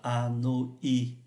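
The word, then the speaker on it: Hanoï: À Hà Nội, chúng ta phải để chỗ này là y tréma để cho nó tách âm ra. Và khi chúng ta có y tréma thì chúng ta sẽ thấy là đọc là Anoi.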